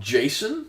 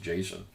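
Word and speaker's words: GSON: uh s o n the J I guess it's still pronounced Jason and so I'm going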